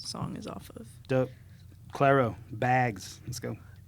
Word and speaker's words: Clairo: Clero. Clero. Sorry, it looks it's spelled like Cairo with an L, so I say Clairo.